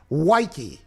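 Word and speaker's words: Woike: for radio we got dan wykey which rhymes with nike who spelled wiki the nba writer for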